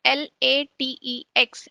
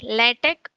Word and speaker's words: LaTeX: LaTeX, which is spelled as LATEX, is pronounced as LaTeX or LaTeX, is written by Leslie